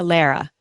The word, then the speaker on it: Lara: So it's Tara. Lara. Lara. Lara. Yeah. I always tell people Lara like Sarah with an L.